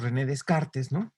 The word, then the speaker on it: Descartes: de carácter que bueno la pronunciación correcta es en francés en el heca pero muy a menudo le decimos rené descartes entonces este y además él